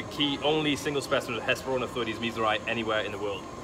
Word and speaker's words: Hesperornithoides: Get the pronunciation right now. Hesperornithoides miessleri. That's correct. Hesperornithoides miessleri.